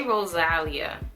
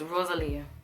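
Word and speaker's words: Rosalía: I say Rosalia. I always say her name wrong. Rosalia. It's Rosalia. I mean, I understand how they were nominated.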